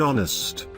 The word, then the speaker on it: honest: It will be noticed that the words such as an hour, an honest, an air begin with a vowel sound, as the initial consonant H is not pronounced.